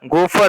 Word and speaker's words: Gopher: इसके बाद third point है गोफर, गोफर प्रोटोकॉल एक होता है गोफर, GOPHER, GOPHER।